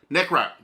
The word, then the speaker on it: Necrot: Necrot. Necrot. Okay. All right, so I'm saying it right, I think. Excuse me. I was saying it right. It is Necrot, right?